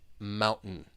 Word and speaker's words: mountain: describe the glottal te it's almost like you're swallowing it Mountain getting getting so just